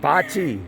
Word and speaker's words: bocce: have croquet and horseshoes mochi ball is that who's saying that we even told you how to say it before the video started bocce bocce ball skyler said he told her bocce bocce bocce so you can come